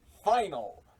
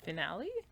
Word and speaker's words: final: It's Ultraman Decker Final Journey to Beyond. Finale? It's final. Finale? It says final. It's spelt final.